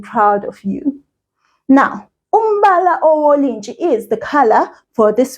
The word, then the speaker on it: owolintshi: Now that sound, N-T-S-H, that sound, we say it like this. You must sort of almost put your teeth together. Not all the way like this. No. Almost close together. And you say, so, Wolintshi.